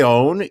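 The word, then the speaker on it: Eoin: one show in ireland then you've got a own e-o-i-n three vowels in a row always going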